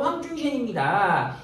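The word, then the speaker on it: 黄遵宪: 근데 황준셴, 중국 발음으로 황준셴입니다.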